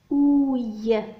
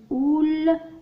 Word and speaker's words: ouille: لا نقول أول وإنما ouille. السؤال الأول lève la main quand tu entends ouille. ارفع يدك عندما تسمع ouille. O U I L هو الصوت ouille. ال هنا لا ينطق وإنما أعيد معي ouille ouille. Très bien.